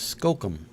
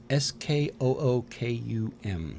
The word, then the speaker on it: skookum: one spell that word s k o o k u m skum I would have said Skookum if it's a double O I don't know some